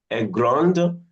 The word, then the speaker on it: grande: Grande, the D has been pronounced.